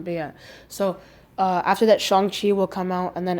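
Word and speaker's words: Shang-Chi: she will come out i keep pronouncing it wrong by the way we'll start pronouncing it chongqi from now on beyond so uh after that shang chi will come out and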